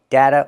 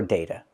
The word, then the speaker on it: data: But, we're learning American English, so remember data or data. You can use either vowel and change the T to a fast D.